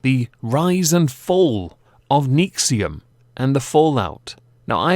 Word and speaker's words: NXIVM: that would indicate it is but it is pronounced nexium which to me is quite interesting because i